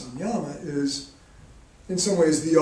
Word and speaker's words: samyama: yoga practice is called people pronounce it differently samyama or samyama uh it's in the